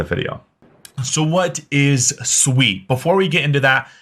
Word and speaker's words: Sui: Aptos as well so first off what is sweet and first off what's how is it pronounced it is Sweet It Is Not sui I've been corrected multiple times so if you